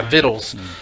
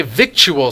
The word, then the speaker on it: victual: you not but yeah vittles is is the pronunciation of that word and so many people's like I play my victual slivers I general right